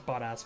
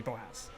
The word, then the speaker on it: Bottas: Mispronunciation is now a running joke, so now it's Bottas, but I just say Boas.